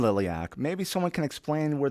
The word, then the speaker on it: liliac: in Romanian my dad's all like oh it's Lilly ak and we're like oh my gosh that's the